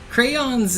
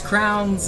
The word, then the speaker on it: crayons: Crayons is just like an extra syllable there. It's crowns if you're like, you're talking fast and you have a little bit of a southern accent.